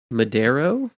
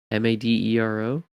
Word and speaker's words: Madero: Will Madero, Madero. Oh yeah, that's pronunciation.